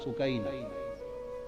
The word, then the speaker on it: سکینہ: جگر شہزادی سیدہ سکینہ، اصل نام ان کا عربی وزن میں سکینہ ہے، عرف عام میں سکینہ چلتا ہے، اصل لفظ سکینہ. سیدہ میں عرف عام کا لفظ استعمال کروں گا، تلفظ بتا دیں، سکینہ، سیدہ سکینہ، سیدہ سکینہ.